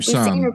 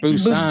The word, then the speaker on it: Busan: Okay, I hope I pronounce it correctly. Train to Busan. Is it Busan? Busan.